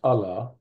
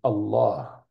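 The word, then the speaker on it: الله: ah H often pronounced Allah but actually the proper pronunciation is Allah so the emphasis is on the L or the double Allah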